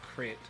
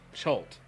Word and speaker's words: Chult: It's not Crit. It's an island where all the Yuan-ti live. But, yeah. Yuan-ti Island. No, it starts with the C. Chult? Chult. Or they're on the island of Chult.